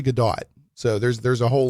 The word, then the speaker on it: Gadot: He was saying Gdat. I was like let me go look this up. It's actually Gdat.